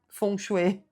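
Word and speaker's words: feng shui: Visão do do fengchui, né, fonchuê, para quem quer a pronúncia correta.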